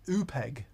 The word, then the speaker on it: Oopegg: an upeg and i i think that's how you pronounce it double o p e double g oh peg it sounds like your